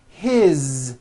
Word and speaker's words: his: His, same thing. It also has a voiced Z ending.